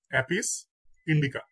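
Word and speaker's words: Apis indica: তারপর মৌমাছি, মৌমাছির বৈজ্ঞানিক নাম হচ্ছে অ্যাপিস ইন্ডিকা, অ্যাপিস ইন্ডিকা।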